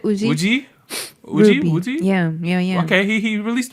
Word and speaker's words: Woozi: Lil Uzi Vert. Yeah, you got it. WOOZI.